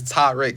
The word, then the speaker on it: Tarik: It's like I don't know if we got different hearing wavelengths or something, but like it's Tarik. It's a short A in it, and it's not frustrating,